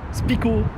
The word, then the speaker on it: Spyco: En fait, il faudrait prononcer à la française. Spico.